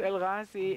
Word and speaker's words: El-Ghazi: The source of our name, the last name, El-Ghazi, in Arabic it should be pronounced El-Ghazi, and the meaning of that is the winner.